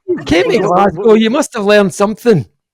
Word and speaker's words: Glasgow: How is it actually pronounced? Is it Glasgow or is it Glasgow? Glasgow. Glasgow. Okay, and that's Glasgow.